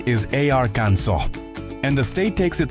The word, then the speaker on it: Arkansas: You walk into a store in Arkansas and ask the cashier, "Hey, do you have any Arcan SAS t-shirts?" Boom. You just broke the law. The correct pronunciation is arans and the state takes it so seriously that mispronouncing it is technically a finable offense.